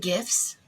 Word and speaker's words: GIF: I heard the other day that they're supposed to be pronounced GIFs, and I'm like, there's no way. That I saved that for my peanut butter. There's no sorry, it's GIF.